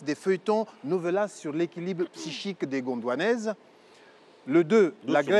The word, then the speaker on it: psychique: feuilletons nouvel sur l'équilibre psychique des gondanaises. Le de la doucement doucement noter. OK. Donc l'équilibre psychique, hein, l'influence des feuilletons novelas sur l'équilibre psychique des Gondouanaises. Hm hm. J'ai pas dit spichique, psychique.